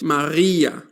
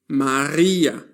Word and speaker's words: Maria: The letter R is pronounced in two different ways in German. It can be a guttal R. That is guttural means that the sound is made with the throat. Maria, Maria or it can